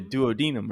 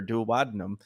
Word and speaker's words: duodenum: draining from the common bile duct into the duodenum or duodenum and so the things that the things draining